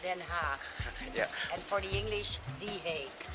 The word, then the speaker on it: Den Haag: She lives in The Hague, Den Haag. Sounds horrible for a lot of people, but in Dutch it's pronounced Den Haag.